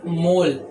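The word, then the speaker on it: mol: इसका यूनिट होता है मोल और इसका ऐसा सिंबल का भी प्रोनाउंसिएशन मोल ही होता है, बट इसमें ई हट जाता है, मोल।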